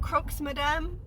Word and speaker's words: croque madame: I've had the ingredients in our fridge for croque madames. Is it croques madame? It doesn't matter because the S is silent. So when I say croque madame, go ahead and put